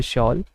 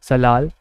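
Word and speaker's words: Salal: इसी में जो कुछ लोग हैं वो शॉल को सलाल या फिर शाल इस तरीके से भी प्रोनाउंसिएट करते हैं। तो आपको याद रखना है इसी तरीके से कि जो सलाल, जिसको कुछ लोग शाल करके बोलते हैं, ये जम्मू कश्मीर के अंदर लोकेटेड है।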